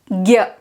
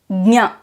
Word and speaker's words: ज्ञ: For example, in the north, they pronounce this as gya. In the south, we pronounce it as dnya. We say the nya, but we also add the ga sound there. And in Maharashtra, people pronounce it as dnya. They add the sound.